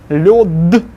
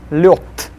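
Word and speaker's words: лёд: Then lod will be lyot.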